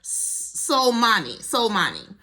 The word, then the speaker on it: Soleimani: And the extreme is we can kill General, how do I pronounce his name? I want to say it correctly. Soleimani.